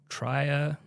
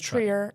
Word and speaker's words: Trier: Uh Jotene Tria. Tria. I think it's Trier. It is Trier. I don't know. I know Lars von Trier. That's what I made. That's true. It is spelled the same way.